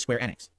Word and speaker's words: Square Enix: square enex and I I apparently have been mispronouncing it for quite some time it is square enex there you go all right so thank you